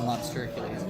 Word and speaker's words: Lobstercules: We sort of litigate how to pronounce it, but we end up settling within the show on Lobstercules.